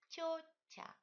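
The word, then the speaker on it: тётя: Dans ces deux mots, toutes les consonnes vont palataliser. Prononcez-les délicatement, respectez la palatalisation, touchez avec le milieu de la langue votre palais. Тетя.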